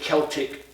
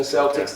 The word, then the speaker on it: Celtic: Because when you study ancient Celtic tradition, or the Irish, tradition, the Fighting Irish, Boston Celtics, they say Celtics, but it's actually pronounced Celtic.